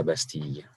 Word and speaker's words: Bastille: Place de la Bastille. In American, we say Bastille, but whatever. Always mispronounce everything.